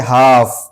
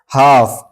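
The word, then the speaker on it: half: इसी तरह है हाफ हाफ एल के बाद एफ आया तो ये एल साइलेंट है।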